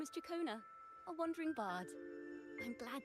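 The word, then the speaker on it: Ciaccona: I still don't understand why people have trouble pronouncing her name when it's literally right there. Takona. The start of the 2.2 story. She just tells you how to pronounce her name. She says her name to you.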